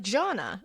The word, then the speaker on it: Jana: My name is Jana, pronounced like Jana. It's Italian as so yeah.